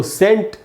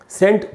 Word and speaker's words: scent: अच्छा दोस्तों, ये है SCENT, तो इसमें सी जो है वो साइलेंट है। तो सेंट की भी मीनिंग है गंध, और ये भी एक न्यूट्रल वर्ड है। सेंट खुशबू के लिए भी